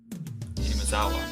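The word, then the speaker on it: 雛見沢: Hinamazawa.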